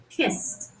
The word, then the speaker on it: kissed: It's simply efficient for your vocal cords to continue to not vibrate and pronounce the ED ending as a voiceless t, kissed.